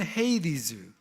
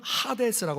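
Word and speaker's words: Hades: 원어에 어떤 단어를 쓰냐면 영어로는 헤이리즈 헬라어로는 하데스라고 발음하는데 하데스라고 하는 곳입니다 근데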